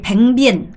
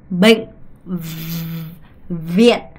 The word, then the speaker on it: bệnh viện: 여러분이 뱅비엔 안 돼요. 뱅비엔 안 돼요. 얘는 비고 얘는 V 발음이에요. 그러면 이걸 정확하게 구분하셔야 돼요. 뱅비엔 아니고요. bệnh viện 이렇게 비읍과 V 발음을 명확하게 발음하셔야 된다는 걸 꼭 기억하셔야 됩니다.